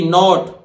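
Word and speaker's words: knot: हैं इसी तरह देखिए के एन ओटी नॉट के नहीं बोलेगा वो नॉट एनटी नॉट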